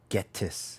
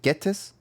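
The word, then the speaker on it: Ghetsis: I name is Getus. Is it Gettis? Hatus. How you say his name? Getis.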